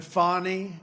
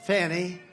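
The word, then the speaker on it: Fani: But one after another, you had Fonnie, F A N I, which is usually pronounced Fanny. She added a little action to it. Fonnie.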